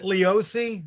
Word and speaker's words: Leoce: gentlemen joseph hello joe how do we pronounce your last name we pronounce it leosi although it's kind of